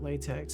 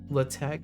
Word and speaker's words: LaTeX: and black backlashes huh you're not actually supposed to pronounce at latex I don't even know I have no idea latch is how we were taught to say it hm welcome to work